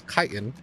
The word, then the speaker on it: chitin: I'm gonna go ahead and grab its fucking chitin, apparently is how it's pronounced. I pronounced it chitin for a while, but it's chitin.